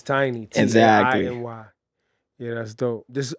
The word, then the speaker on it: Tainy: It helps because there's so many Tinies around the world.